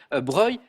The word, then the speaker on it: Broglie: Broglie, mais on Ouais, prononce plutôt Breuil.